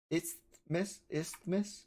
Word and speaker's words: isthmus: Isthmus. You know how to pronounce that? Isthmus. It's like there's like a TH and an S.